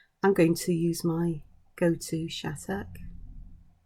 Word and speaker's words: Shattuck: I'm going to use my go-to Shattuck. Spelt with 2 T's, but it always sounds like the T's are pronounced as D's.